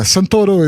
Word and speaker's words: Santoro: my accent will yeah santoro is is how we pronounce his name in brazil he's brazilian so yeah